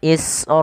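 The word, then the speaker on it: إِسْرَائِيل: Maka cara membacanya kita panjangkan huruf ra sepanjang 4 harokat. Israila, jangan dikurangi.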